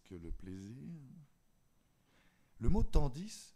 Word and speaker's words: tandis: le plaisir le mot tandis je sais que parfois on ne prononce pas le s à la fin hélas la 8 vient